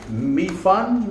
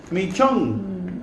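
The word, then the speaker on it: mì trứng: with some pasta, some mi fun. Is that how you say it, Cham? Mi fun? chung. Mi chung. Okay. It says trung, but it's chung.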